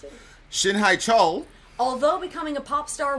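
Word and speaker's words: 신해철: How do you pronounce it? Shin HaeChul.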